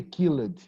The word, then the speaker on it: killed: Yeah, don't say killed, killed. We only pronounce the letter D, just like called, Okay.